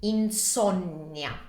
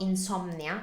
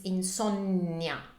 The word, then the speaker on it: insonnia: That's very similar, just a little bit different in spelling and pronunciation, and it's insonnia. So it's not insomnia, it's insonnia, due N, two N's.